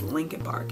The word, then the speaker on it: Lincoln Park: who don't know it's it's spelled legend park but everyone says linkin park it's weird i don't